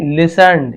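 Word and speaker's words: listened: The Saint लिसन टू हिम, संत ने लिसन्ड, यहां पर भी देखिए टी साइलेंट, लिसन्ड यानी सुना, टू हिम यानी उसे सुना।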